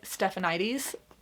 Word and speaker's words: Stephanides: Calliope Stephanides, I believe is how you would say her last name.